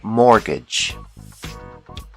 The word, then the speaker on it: mortgage: call this loan a mortgage the t is silent mortgage another common loan is